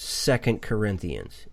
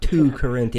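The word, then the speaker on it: 2 Corinthians: the Bible you know it's pronounced second Corinthians it's not two Corinth I mean and and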